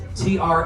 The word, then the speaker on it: Tranquille: Tranquil by the lake, or tranquil tunnels, and that's spelled kind of like the French version of the word tranquil. Tranquille, tranquil.